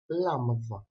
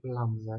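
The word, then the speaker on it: λάμδα: Next letter is lambda. A word that starts with this letter is Yakava, that means the sunshine, or the name Laura. It is pronounced L, like lamb.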